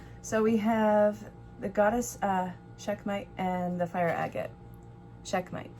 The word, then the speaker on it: Sekhmet: So we have the goddess Sekhmet and the fire agate.